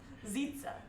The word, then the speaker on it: Zitsa: yeah what's your name zitsa like pizza but with the z zitsa like zitsa